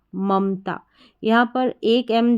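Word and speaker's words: Mamta: में ए नहीं लिखेंगे अगर नाम का उच्चारण ऐसे रहता ममता तो तो हम एक और ए लिखते एम ए एम ए लेकिन नाम का उच्चारण ममता ना कि ममता ध्यान रखना उच्चारण के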